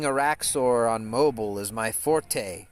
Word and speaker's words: forte: on mobile is my forte right but actually the French word meaning your best skill is pronounced Fort like a like a you know a a pillow fort or you know you